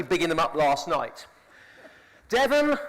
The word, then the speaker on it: Devon: Devon, the only English county to rhyme with heaven.